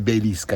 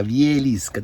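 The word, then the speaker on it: Wieliczka: Non Belisca, Vielisca.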